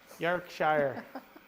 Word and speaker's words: Yorkshire: Yorkshire. That's how you say it.